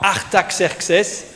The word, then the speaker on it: Artaxerxes: Artaxerxes. Voilà, vous vous souvenez, on avait appris à le prononcer mais c'est pas là l'important hein.